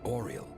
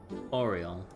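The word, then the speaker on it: Aureole: It's called the Oral. Oh, okay. So, I'm slightly mispronouncing that. Oriel.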